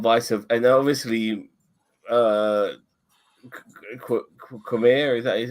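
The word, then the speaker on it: Qimir: And obviously, uh, Khmer, is that how you say his name?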